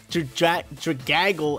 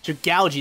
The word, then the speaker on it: Dragalge: Starmie, Scissor, Politoed, Dragaggle. How do you even say it? Dragalge. That's what it is.